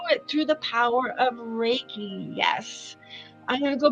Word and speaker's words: Reiki: Reiki, pronounced is Rei in Ki, meaning universal life energy in Japanese.